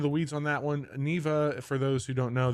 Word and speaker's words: Neva: it wrong forever I think is it It's Neva correct it is Neva yes okay and that's